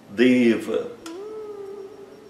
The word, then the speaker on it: Deva: O E fechado, longo, e o A curto, fechado. Não existe Deva. Se alguém falar Deva, está simplesmente errado. Esse som não existe.